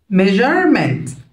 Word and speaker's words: measurement: هنا ال S U R E هتنطق جر. measurement measurement measurement.